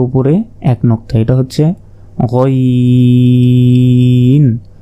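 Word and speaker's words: غين: এক নক্তা এটা হচ্ছে গাইন হলকের শেষ ভাগ হতে গাইন উচ্চারণ হয় এরপর উপরে এক নক্তা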